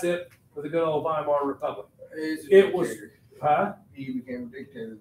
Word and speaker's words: Weimar: The Germans pronounce those W's like a V. Weimar, the Weimar, and they created the Weimar Republic.